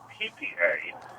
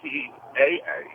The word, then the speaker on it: HIPAA: It's not HIPAA, HIPPA. It's HIPAA.